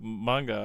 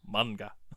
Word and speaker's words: manga: like what manga well that's technically how it's pronounced I need to be a better about that it's manga if well us Americans like to say manga but it's manga cuz it's a Japanese word they have MAA manga